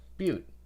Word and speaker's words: butte: noise icon next to butte you click that butte oh beaut yep so that is how you pronounce it mute turns out there's also a